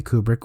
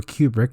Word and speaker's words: Kubrick: entire history of cinema, Stanley Kubrick, or Kubrick, depending on how you pronounce it, based on Stephen King's